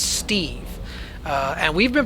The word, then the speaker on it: Steve: But people just couldn't pronounce it well, so they were always saying Estif, Estil, like put a little L or an F at the end of it.